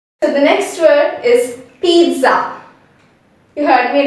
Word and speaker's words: pizza: but when we pronounce we include a t sound over here that is for the first syllable we say p e e t p and for z z a we don't include the z sound we bring the s sound okay so when i'm saying it you must have noticed